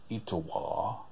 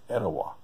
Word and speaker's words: Etowah: you said about georgia they don't say it as italia they say etowah you know it's like